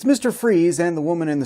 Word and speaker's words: Fries: It's pronounced freeze. I've seen how it's spelled, and you're not going to make me look like a fool. I'll be calling him Mr. Fries.